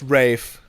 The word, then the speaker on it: Ralph: My name is spelled Ralph, pronounced Rafe, but it's Ralph everywhere else.